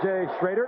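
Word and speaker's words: Jay Schroeder: back that crowd is really aroused there is schroer or J shraer spelled stroer but pronounced straighter third round draft pick of a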